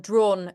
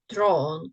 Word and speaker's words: drawn: Because it's again like the even though it's spelled like AW, right? But it's pronounced, I think, more like O, draw, not O, but not O, like drawn curtains.